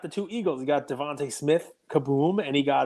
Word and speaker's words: DeVonta: It's spelled Devonta, but it's Devontae.